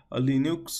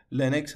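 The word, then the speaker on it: Linux: تو فارسی میگیم نیست مثلاً لینوکس و تلفظ اصلیش لنکس هست هستش ولی مثلاً ما عادت کردیم میگیم لینوکس برای همین برای اینکه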